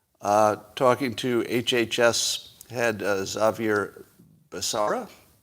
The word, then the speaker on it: Becerra: HHS head Xavier Becerra, or is the C hard? Is it a hard C, Becerra, or is it's Becerra? Somebody tell me the pronunciation of that. Becerra or Becerra? Anybody? All right, somebody will tell me. Becerra, I'm hearing. Seems right. I'm going to go with Becerra.